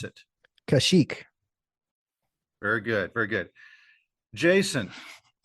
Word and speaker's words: Kashyyyk: Dayton, what is the Wookiee's home world and how do you pronounce it? Kashyyyk.